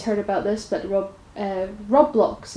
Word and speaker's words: Roblox: about this but Rob Rob blocks is how he pronounce it I would have said roblox but rocks for blocks it probably fate has